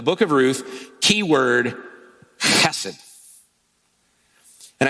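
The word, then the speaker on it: hesed: of Ruth key word hassid and I spell it with a K often you'll see it h e s e d hassid or hassid and you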